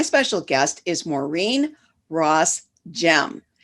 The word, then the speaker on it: Gemme: fridays today my special guest is maureen ross gem spelled g-e-m-m-e so i had to check with her to pronounce it correctly but what a great last